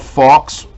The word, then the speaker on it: faux: It has a removable, this is called Faux. It's F-A-U-X. That's how you pronounce it.